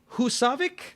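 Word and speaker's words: Húsavík: a bit of a limb and i'm going hussavik i believe is how you pronounce it from eurovision song contest we've seen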